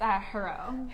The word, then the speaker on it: Jirau: It's Jirau. Jirau.